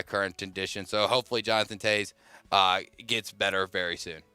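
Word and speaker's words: Toews: Chicago Blackhawks captain Jonathan Taves. My God. It's a W, but it's Taves. Well, the guy the video I watched pronounced it Tazy for some odd reason, tried to get it right, will be out indefinitely with illness.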